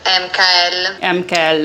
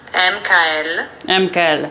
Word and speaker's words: Hemcael: We are going to talk about the best brand of 2023, Hemcael. Hoe zeg je het nou? Give you the correct pronunciation of the brand, which is Hemcael. I repeat it. Hemcael.